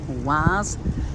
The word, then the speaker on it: Oise: Oise, that's how it's pronounced.